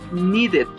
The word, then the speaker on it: needed: La segunda forma de pronunciar ed es como si fuera id.